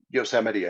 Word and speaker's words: Yosemite: They have two types called the sequoia and I'm going to say this wrong, Yosemite National Park. Is that right? Yosemite, I think.